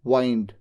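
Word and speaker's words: wind: यह जो डब्ल्यू आई एन डी है इसको दो तरीके से प्रोनाउंस किया जाता है। दो अलग-अलग वर्ड्स होते हैं। एक है विंड जिसका मतलब होता है हवा और एक होता है वाइंड। बोलते कैसे हैं? वाइंड।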